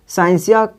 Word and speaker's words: scientia: साइंसिया SCIENTIA, इसका उच्चारण आप देखिएगा तो उच्चारण होता है साइंसिया।